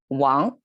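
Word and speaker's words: 亡: Actually the top, even if it means dad, but it's pronounced as Wang, and you'll see here it pronounced as Wang.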